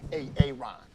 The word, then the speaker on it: Aaron: So, why didn't you say it the first time I said A-A-Ron? Because it's pronounced Aaron.